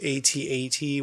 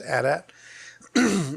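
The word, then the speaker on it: AT-AT: thanks back Imperial Walker that's yeah it's the 8080 which is the wrong way to say it is pronounced a DAT oh well aren't you just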